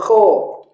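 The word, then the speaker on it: خ: maka bunyinya S u huruf Kho huruf ko tidak ada padanannya pada huruf alfabet maka harus kita latih pengucapannya koho khi khu huruf Dal mungkin mirip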